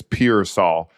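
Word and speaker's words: Pearsall: wanted to say his last name correctly it's piol um rookie from Florida receiver had High Hopes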